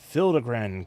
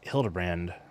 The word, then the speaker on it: Hildibrand: Since parting ways, I've searched every alley and dive bar never keep for signs of this Hildigrand character. It's pronounced Hildbrand.